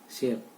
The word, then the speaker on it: chef: एक वर्ड आपके सामने CHEF, इसका प्रोनाउंसिएशन होगा शेफ।